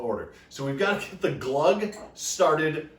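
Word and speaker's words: gløgg: also tonight we're making glug glug so chad told me it's pronounced like bug or drinking glug but it looks delicious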